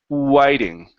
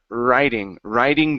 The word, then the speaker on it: writing: Now here, instead of pronouncing an R, you'd pronounced an oo. You said whiting. Instead of whiting, it's It's an R vowel, so it's writing down.